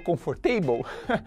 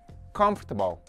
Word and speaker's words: comfortable: ser essa palavra eu acho que você falou comfortable nada de falar conforto para com isso a pronúncia correta é com futebol 9.10 perde spherical futebol desde bad hair day